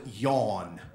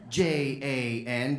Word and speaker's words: Jan: was yawn I'm like do you mean John he's like no it is yawn how do you spell that yawn j-a-n dude that's a girl's name that's Jan no it is very much like the first thing you do when you wake up in the morning you your name is